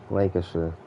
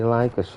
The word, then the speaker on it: Lancaster: That's how you pronounce it, right? Lancaster. That's what I'm getting from very good teacher. Thank you. Lancaster. Sweeter. It's bloody Lancasher.